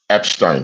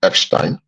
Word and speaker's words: Epstein: addressing a current scandal that's ongoing about the Epstein files. The name is pronounced Epstein originally because it's is a it's from Germanic origins, Epstein, but in English they call say Epstein.